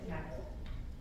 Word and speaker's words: appil: On the glossary page, it says APPIL is pronounced apple.